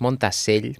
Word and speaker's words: Montasell: Bueno, es montasell porque es esta cosa catalana que le metemos esa doble l así, pero bueno, se tiene